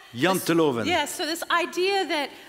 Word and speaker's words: Janteloven: So I want to make sure I pronounce this correctly, but I think it's called Janteloven. Janteloven.